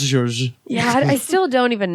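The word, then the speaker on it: Georges: It's pronounced George.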